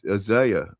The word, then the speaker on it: Isaiah: Yes, he mispronounced Isa. Exactly. I What you say? Uh, Isaiah.